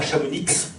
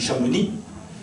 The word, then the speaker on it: Chamonix: peu près plausible de pourquoi on ne dit pas Chamonix, sauf si on est parisien, qu'on dit Chamonix, qu'on dit Semnoz, on prononce le Z et puis on ne prononce pas le X.